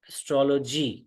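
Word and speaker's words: astrology: एस्ट्रोलॉजी तो basically य लोग इसको बोलते हैं ऐसे एस लॉजी बट इसका जो उच्चारण होना चाहिए व होगा एस्ट्रो एस्ट्रोलो एस्ट्रोलॉजी यह ध्यान रखिएगा तो एस्ट्रोलॉजर उसी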